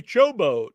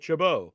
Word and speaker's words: Chabot: I always call you Chobo, but it's Chabot.